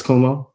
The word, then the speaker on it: Cuomo: Chris Cuomo.